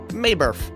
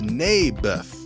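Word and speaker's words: Naboth: that's what i said mayberff i think you're saying it wrong his name was neybeth ah bless you oh never mind nabith lived on a piece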